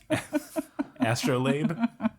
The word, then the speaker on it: astrolabe: Astrolabe? Yeah. That's there's that word again. What was that again? Astrolabe. It's how it's pronounced.